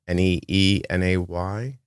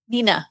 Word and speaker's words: Neenah: It looks like Paola is pediatric at Children's Hospital Neenah, Neenay, NAH, Wisconsin.